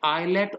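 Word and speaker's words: islet: जो beta cells होते हैं बच्चों, इनका एक और नाम भी है आइलेट ऑफ लैंगरहैंस। इज नहीं बोलेंगे इसको, ऐसे साइलेंट है, आइलेट, जैसे आइलैंड होता है ना, ऐसी आइलेट्स ऑफ लैंगरहैंस, पर्सन का नाम है लैंगरहैंस।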